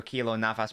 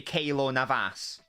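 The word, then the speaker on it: Keylor Navas: of it oh God your kilo Navas pronunciation is mildly infuriating why should it be Navas or something okay should be Kayla Navas you love that Louis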